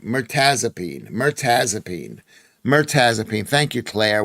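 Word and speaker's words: mirtazapine: It's pronounced Mertazipene. Mertazipene.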